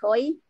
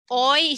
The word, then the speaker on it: hoy: Hoy should be not hoy, hoy. Hola is spelled as hola, but we pronounce in Spanish hola. That's why que día es hoy, not hoy.